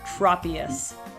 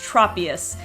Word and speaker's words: Tropius: i'm probably gonna say it wrong number five Tropius this is one that I completely forgot about